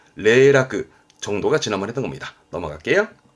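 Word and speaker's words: 零落: 발음은 레라크 레라크 정도가 지난번에 했던 겁니다.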